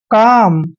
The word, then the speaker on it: calm: दोस्तों मैं आपको बता दूं कि M से पहले जब भी L आता है तो L वहां पर साइलेंट होता है, इसलिए इसको हमने पढ़ना है काम। क्या पढ़ेंगे? काम। आपने इसको कॉलम नहीं पढ़ना है, काम पढ़ना है।